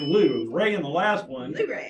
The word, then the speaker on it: Luray: yep which is well I would always have said well right but that's not correct it's Luray You Gotta Get Loose Ray in the last one